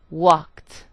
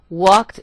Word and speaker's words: walked: cried in the second I produced the T sound walked and finally in the